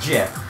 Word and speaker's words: GIF: watch it it is jeff the Creator said is pronounced jiff I won't be one